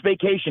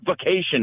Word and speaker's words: vacation: It's vacation, not vacation. It doesn't start VK.